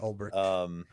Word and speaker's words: Ulbricht: Oh, it's spelled wrong in the article, link. but spelled right on the title. Oh yeah, Ulbricht.